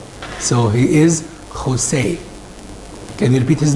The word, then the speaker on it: José: J in there in Peru, it's pronounced Kha. So he is José.